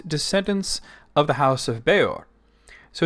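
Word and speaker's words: Bëor: on the screen here notice the two little dots over the E it's pronounced beor it's a name that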